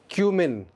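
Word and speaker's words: cumin: Next word, एक मसाला जात, क्यूमिन, क्यूमिन, ज़ीरा, क्यूमिन, कमिन नहीं है, क्यूमिन।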